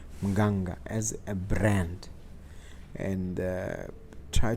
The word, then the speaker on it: Mganga: Now, I want to talk to you about Mganga as a, I have to pronounce it correctly, Mganga, as a brand, and try to look into